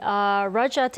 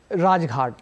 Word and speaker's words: Rajghat: lay wreath and pay their respect at the Rajat. Am I pronouncing that correctly? Rajghat.